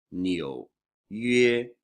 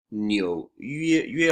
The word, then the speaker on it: 纽约: Nyo is a little bit tricky to pronounce. So the n, right, the n is just like in English, but the yo here is a little tricky. Yo, right? It's yo, so it's nyo first tone, nyo, and then you bring